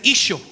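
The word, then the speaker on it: ܝܫܘܥ: Se pronuncia Isho.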